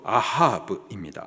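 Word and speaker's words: אהב: 있습니다 여기서 등장하는 사랑이라는이 단어가 히브리식 발음으로 아하브입니다 아하브이 단어가 출애굽기 20장에에 사용이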